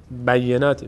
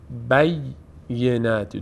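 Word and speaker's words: بيّنات: روی تلفظ این یا خیلی از عزیزان حواسشون نیست بینات بینات بینات می‌خونن بیینتی د تا یا هست بی ینتی ینتی ینتی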